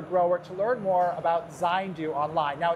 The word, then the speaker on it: Zayndu: if you're a grower, to learn more about Zindu online. Now, it's spelled Zu Z A Y N D U if I got it right. And so, but it's called pronounced Zindu.